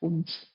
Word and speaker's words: Kumst: Usually wrongly pronounced, but we are getting to it, and this is where it comes from. How can we pronounce it correctly? Just Kumst. KUMST.